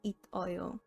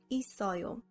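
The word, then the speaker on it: 있어요: bach meaning to exist you wouldn't pronounce it as it oyo since that doesn't have flow it's read as isaio re-syllabification only pertains to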